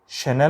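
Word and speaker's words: Chanel: ये खुशबू वाला ना शैनल होता है, चैनल नहीं होता।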